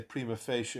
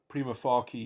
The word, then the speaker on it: prima facie: as a dead language you either say prima facie or primo prima faki you'd how however you however you want to pronounce it but um if you